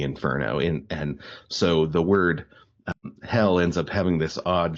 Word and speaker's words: Hel: later the Inferno of hell as well. The Anglo-Saxon word for Sheol is Hel. It's pronounced hell.